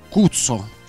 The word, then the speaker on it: Kutso: E noi abbiamo detto sì, perché il nostro nome si scrive K-U-T-S-O, però avrebbe in realtà una pronuncia inglese con la A, non dico al altro. Al posto della U c'è la A, fate voi.